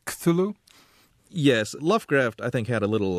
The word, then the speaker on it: Cthulhu: It looks as if it should be pronounced Cthulhu, but he maintained in a letter written much later that it's really two syllables, and the first one is sort of coughed or barked out.